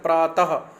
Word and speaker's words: प्रातः: विसर्ग का उच्चारण ह ध्वनि के समान है। जब हम बोलते हैं प्रातः, देखो तो ह नहीं पड़ेगा, प्रातः जब पीछे विसर्ग।